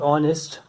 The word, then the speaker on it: honest: Accordingly, I told you about honest, that the word honest begins with H, but H is silent, and after H comes O, that is. And if we take example of this word honest, so H is silent